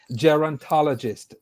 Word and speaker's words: gerontologist: Did I pronounce that correctly? It's actually gerontologist. Gerontologist, great. Yes.